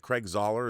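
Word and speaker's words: Zahler: Is it Craig Zoller? Is that how you pronounce Zoller's last name?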